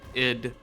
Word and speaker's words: id: I did not mean to do that. Very cool from id. I always say ID because that's, to me, that's the way to pronounce it. But yeah, id. Yeah.